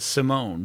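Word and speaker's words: S1m0ne: was it's they you you pronounce it simone but it's s one m o n e o n e yeah wow in 2002.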